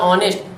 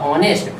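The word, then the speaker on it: honest: जैसे ये बेटा लिखा हुआ है ऑनेस्ट, लेकिन आप इसको पढ़ेंगे हॉनेस्ट, यानी यच है जरूर पर यच इसका उच्चारण नहीं हो रहा, साइलेंट वर्ड।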